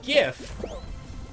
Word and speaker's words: GIF: run of peanut butter, where on one side it says Jif peanut butter, the other side it says GIF moving images, so that you pronounce it correctly.